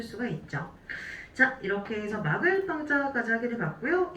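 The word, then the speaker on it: 罪: 그래서 이제 음독으로 읽어줄 때는 자이. 그래서 우리가 자이악감, 죄악감 이라고 얘기를 하죠. 그 다음에 얘를 훈독으로 읽어줄 땐 쯔미라고 읽게 되는데 이 쯔미는 죄라는 의미를 가지게 되겠죠.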